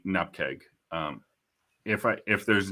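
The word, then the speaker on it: nupkg: uh speaking in normally it it is npeg that I say uh but if I am depending on stop there it's enough just in in casual conversation it is normally NP keg um if I if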